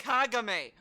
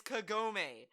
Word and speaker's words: Kagome: that kagame life-threatening right kagame dude it's kagome oh my god dude